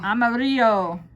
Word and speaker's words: amarillo: Amarillo. Amarillo. Now, There's a little bit of a R in there.